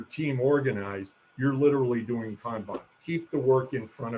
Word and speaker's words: kanban: Kanban, that's the correct Japanese pronunciation. I studied Japanese in the Coast Guard, so I could talk to Japanese fishermen in the Pacific. Not Kanban, Kanban.